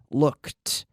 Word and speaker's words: looked: So in the past, like all verbs ending in a K, we have the T sound. Asked, asked, looked, checked. Okay, the K, we have to squeeze a T sound in there. There's no extra syllable, but we're squeezing in that T sound.